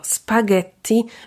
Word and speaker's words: spaghetti: nam w tym ułatwiają na przykład sięgając po słówko spaghetti wymawiamy twardo g bo po nim pojawiło się h i takie zasady na